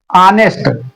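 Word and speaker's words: honest: अब यहां पर ऑनेस्ट की स्पेलिंग एच से शुरू है जो कि व्यंजन है लेकिन ऑनेस्ट का उच्चारण हिंदी में आ की तरह हो रहा है।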